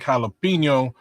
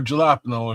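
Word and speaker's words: jalapeño: Um, guinea beans, onions, bell peppers, ground beef, garlic, jalapeno, or gelapno if you mispronounce it.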